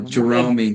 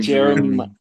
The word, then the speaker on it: Jeromy: That's the way it's spelled. I'm like, wait, I don't want to say it wrong. Yeah. Jeromy. Most people call me Jeremy.